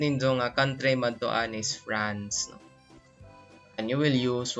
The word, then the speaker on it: France: They pronounce France as France. Okay? Again, France. Okay? Nasal siya, no?